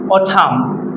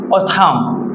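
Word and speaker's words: autumn: এই যদি এম আছে এখানে মনে রাখবেন, এখানে এনটা সাইলেন্ট থাকবে, এনটা উচ্চারণ হবে না, তাহলে হবে অথাম। অথাম।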